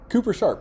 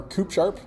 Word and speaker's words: Cooper Sharp: Philly, and I would never be able to pronounce it because I'm not from Philly. Say it again. Cooper Sharp. Yeah. Or Coop Sharp.